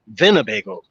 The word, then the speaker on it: Winnebago: It's Winnebago, like pronounced, instead of W, it's with a V, Winnebago, which means that that